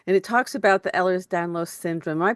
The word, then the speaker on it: Ehlers-Danlos: here yep okay and it talks about the Ellers down low syndrome am I pronouncing that correctly ERS elhers danow syndrome yep ERS danow syndrome okay and it gives you all of that